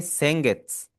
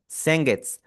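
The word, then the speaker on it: 先月: सेंगट्स नॉट सेंगेट्स। Seng it's एंड वाला उ हमारा साइलेंट हो जाएगा। मोस्ट वर्ड्स जिनके एंड में सु आ रहा होता है उसका एंड वाला उ हमारा साइलेंट हो ही जाता है।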